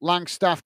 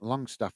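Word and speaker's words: Langstaff: Some guys, some people say long staff and but it's actually he's got an A in it.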